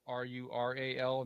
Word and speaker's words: rural: By the way, that is spelled RURAL, not RULE. It's rural.